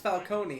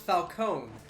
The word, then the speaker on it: Falcone: like Falcone makes sense his name isn't pronounced Falcone and they did confirm this I don't know it's pronounced Falcone because it's based off of Al Capone oh you know yeah